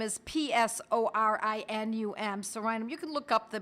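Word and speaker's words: Psorinum: One of them was Sorinum, spelled with a silent P, you know, like pneumonia. You don't pronounce the P. Sorinum is P-S-O-R-I-N-U-M. Sorinum.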